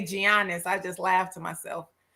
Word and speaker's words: Giannis: it's pronounced with the Y, Giannis. That's how you pronounce his name.